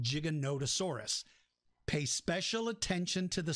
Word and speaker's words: Giganotosaurus: it's a sauropod it's a long neck dinosaur giganotosaurus is the proper way to now uh you can call it giganotosaurus if you like but something else i want